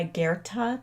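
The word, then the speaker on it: Goethe: of all time this is um quote by guerta that's how you pronounce his name whatever you can do or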